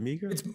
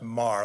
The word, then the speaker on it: Meagher: Is it meager? It's actually pronounced Marr, like M-A-R-R.